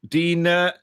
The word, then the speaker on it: Digne: They line up with Mannion in goal, Dina, or Digne, however you want to pronounce it, Saliba, Upamecano, Koundé, Rabiot, Kone, Doué, Elise, Dembele, and Mbappe.